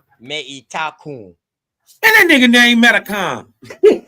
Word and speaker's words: Metacom: Let me pronounce that the right way. Meitacom. That's how we would pronounce that. Meitacom.